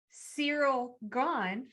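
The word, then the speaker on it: Ciryl Gane: We just saw Francis Ngannou defeat Cyril Gane.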